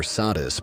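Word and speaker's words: Satis: Before the great names of Isis or Hatheror filled the temples of Egypt, there was Satet, pronounced Satet or Sadis by the Greeks.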